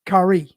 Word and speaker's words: Kai: so I see you got in parentheses it's K yeah that's how you you pronounce it cor my bad you're fine I